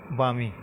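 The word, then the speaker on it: balmy: तो इसी से हम रिलेट कर सकते हैं क्या, बामी। क्या? बामी। एल साइलेंट रहता है इसमें, तो आप वो क्या बोलोगे, बामी।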